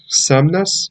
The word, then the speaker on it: Somnus: don't know that is his code name is samnas i think is how you pronounce it s-o-m-n-u-s so he's a mutant